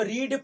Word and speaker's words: read: इसको रीड पढ़ेंगे, इसको रेड पढ़ेंगे, इसको रेड पढ़ेंगे, यानी रेड बोल दिया तो V2 या V3 हो गया।